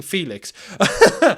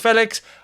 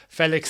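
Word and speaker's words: Félix: It's weird saying Felix. I'm so used to saying Felix. But he wants his name pronounced Felix. I get it right at the end, just as he leaves the football club. Felix it is.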